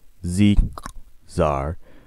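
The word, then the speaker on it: Z!Czar: How did any pony ever end up with a name with a clicking sound in the middle of it? How do you... It's spelled with an exclamation mark. Z-Czar, replied automatically, as if he got the question all the time.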